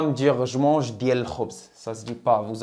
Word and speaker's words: khobz: Ana kanakul, moi je mange le khobz. Le khobz. Le, ça c'est le, comme on a vu. Le, les, la, tout ça on traduit par le. Ok. Khobz. K-H, ça se prononce kh. Kh, khobz. Khobz.